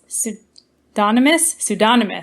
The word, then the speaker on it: Pseudonymous: book is secret by sudanamas pseudonymous that's how we would pronounce it pseudonymous bosch which in